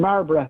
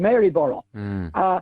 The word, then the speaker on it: Maryborough: Now, you notice I'm using Marlborough, which is the local pronunciation, rather than Maryborough.